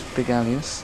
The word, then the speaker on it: Bigalius: Let's start off by saying my name is Bigalius. That is how it's pronounced.